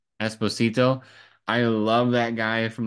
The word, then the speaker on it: Esposito: Giancarlo I don't know how to pronounce his last name. Esposito. Esposito.